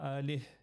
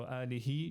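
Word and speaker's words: آله: salli ala Muhammadin wa alih with the h at the end. So alihi, you can say alihi just to emphasize it, or alih, but you need to pronounce the h.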